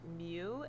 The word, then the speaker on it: mu: it's pronounced x bar mu is pronounced mu m-e-w the formula for x-bar